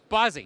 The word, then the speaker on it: Bozzi: Bozzi. You got it right.